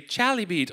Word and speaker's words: chalybeate: I clicked a button to hear someone say chalybeate on Google so I can make sure I was saying it right.